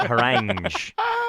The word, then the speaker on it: harangue: Is it spelled harangue? How do you spell it, Andy? It's like the treat meringue.